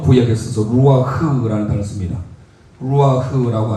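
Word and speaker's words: רוּחַ: 루아흐라고 하는 것은요, 레시, 머리죠, 레시. 그리고 바브의 가운데 이게 우 발음이 납니다. 루아흐. 그래서 함께 고백하겠습니다.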